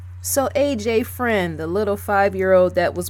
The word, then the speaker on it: Freund: no F are you f AR e-you indeed friend is how you pronounce that andrew friend died three days before